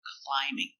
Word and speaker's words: climbing: it looks like B but remember the B is silent it's not climbing it's climbing the boy is climbing